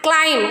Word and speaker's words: climb: comes before T there so B is silent in that kind of words com thumb lamb climb we should not say